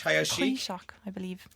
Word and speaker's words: Taoiseach: It's Taoiseach? Taoiseach, I believe. It's like an Arab sheikh, He's but our- it's the Tao sheikh, He's our president, essentially.